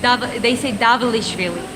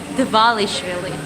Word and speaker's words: Dvalishvili: They always mispronounce it. Like, I always laugh my ass when they say Davalishvili, but it's Dvalishvili. It's like Merab having a video that, okay, let me just teach you how to pronounce the name. It's not Davalish, it's Dvalishvili.